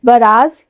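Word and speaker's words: barrage: Next word is बराज या बैराज। दोनों हम प्रोनाउंस कर सकते हैं बराज़ या बैराज।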